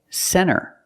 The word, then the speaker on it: center: first example is n when you see N A lot of times you don't hear the T example Center of course you can say center it's correct but a